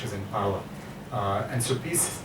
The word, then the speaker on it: PiS: The Polish name is PiS, PIS, and I think that I got the Polish pronunciation right.